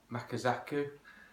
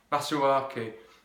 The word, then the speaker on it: Masuaku: Likewise, maybe what you might like to do with Makazaku. I always say that name wrong. Masuaku.